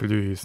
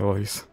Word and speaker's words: Louis: Значит, это именно читается как Льюис на самом деле, да? А не Лоис.